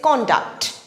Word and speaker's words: conduct: in today's list is conduct conduct it has two syllables con duct now when it is used as a noun the stress falls on the first syllable con conduct conduct for